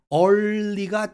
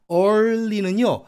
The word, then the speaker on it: early: 어떤 유튜버 영어 선생님은 early가 최고로 어렵다고 그러면서 틀리게 가르치시는데 여러분 생각해 보세요. early는요, R하고 L 사이에 음절이 분리가 됩니다.